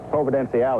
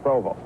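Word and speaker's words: Providenciales: the British West Indies the island of Provo proven Alle is the way it's actually pronounced but the natives around here all call it Provo we've come down at their invitation here at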